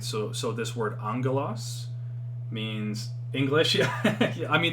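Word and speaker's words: ἄγγελος: by side like this so there's this word angelos right okay alpha gamma gamma epsilon lambda omicron sigma okay so if you were to just pronounce this like you see here would be like agelos but when there's two gammas beside each other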